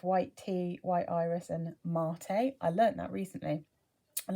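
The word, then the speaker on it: maté: middle notes of white tea white iris and mate i learned that recently and last one i read it as mate because that is how it's felt but apparently it's pronounced mate and it's a type of tea so there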